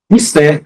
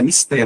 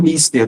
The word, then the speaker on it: mister: Mister, isso é importante, isso é mister, não é mister do inglês, é mister, oxítono.